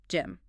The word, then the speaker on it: gym: In English, the g in these specific words has a hard percussive sound. It is almost explosive. Gym. Gin. You really have to force it out.